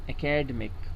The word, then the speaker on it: academic: So it's not academic, it's academic. Academic. The stress is on the D.